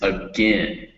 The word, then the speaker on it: again: Now the word is again. Again, Again. again, In. So it's again, so it's again with that short I sound, that it, again. It's spelled with an AI, but it's just pronounced it.